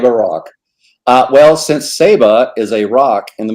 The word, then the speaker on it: Saba: well first of all i've been chastised it's pronounced saba yes it is save a rock uh well since seba is a rock in the middle of the